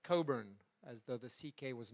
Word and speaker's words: Cockburn: weren't you liar liar because it's Coburn I don't I don't know I just called him aliser all day long I don't know how to say his last name so so it's Alistair Coburn now I have um